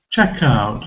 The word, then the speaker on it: checkout: together in one word check out it's one example check out these are always stressed on the first syllable and it makes a difference if you say check out or check out when I go to